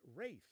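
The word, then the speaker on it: Ralph: three we got beef for 1200 concerning the pronunciation of its Rafe actually Michael Rafe take a look here's the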